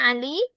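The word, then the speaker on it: علي: Kh sudah dicatat Ustazah jadi siapa nama ibunya Ali? Siapa akhwat? Nama ibunya Ali. Naam. Saidah. Kalau nama ayahnya Ali siapa? Adnan. Adqat. Pengucapan Ali itu sebenarnya seperti ini ya. pakai ain ali aliyun ali heeh artinya bagus akad aliyun yang tinggi.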